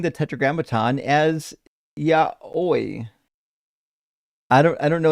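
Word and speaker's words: yaoi: Yeah, I don't know enough anime to uh it's pronounced yahi and it's it's like gay stuff.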